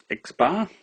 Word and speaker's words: x-bar: a sample mean not the population mean so x-bar is how it's pronounced or said so x-bar and and so to calculate x-bar as we